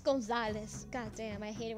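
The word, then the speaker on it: Gonzales: It's Gonzalez. God damn, I hate it when people mispronounce.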